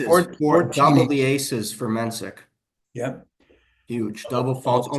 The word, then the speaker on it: Mensik: I don't think it's Menchik if it was I Ch think it's C. Mensik also.